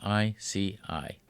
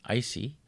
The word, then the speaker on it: ICI: It's spelled ICI, which can be either pronounced icy or in French ici.